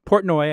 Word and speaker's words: Portnoy: because the guy who runs it Dave Portnoy Portnoy I think is how you pronounce his name is an outspoken obnoxious jerk